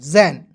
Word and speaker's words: Jan: JAN, तो जे का ज, ए है तो इसको उच्चारण आई के रूप में, एन का होता है न, जैन।